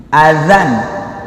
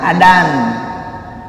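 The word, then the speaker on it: أذان: Azan bukan adan, dak gerak adan. Ya, saya nggak mendiskreditkan dari suku dan orang mana. Ada saja yang bilang gerak adan, padahal azan, izin, azan.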